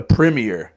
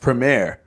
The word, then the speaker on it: Premier: League I used to even call it the premere but it's actually pronounced Premiere I like that um but I know like